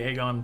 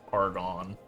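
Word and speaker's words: Agon: AA Sentinel of the aegon temple which I for years as a child I kept mispronouncing as argon I don't know why I wanted to stick a r in there this message survives my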